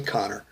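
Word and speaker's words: Conchobhar: don't make the connection Ned's real name is almost unpronounceable Co n CH OB har most folks just say Connor but as soon as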